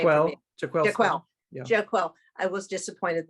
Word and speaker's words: Jaquel: Jaquel.